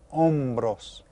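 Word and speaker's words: hombros: that H is silent ombros we don't pronounce the h so let's go ahead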